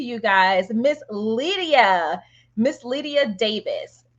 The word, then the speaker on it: Lydia Davies: guys miss Lydia Miss Lydia Davis did I say your name right yeah you did actually because I'm British so you actually pronounced it never happens awesome awesome awesome